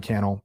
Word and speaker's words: Cannell: My name is Sean Cannell, rhymes with YouTube channel.